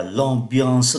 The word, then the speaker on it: ambiance: cái chủ đề là l'ambiance dans lieu. Ở đây chúng ta vẫn nhớ là cái từ em mà khi đứng trước B thì phát âm là N.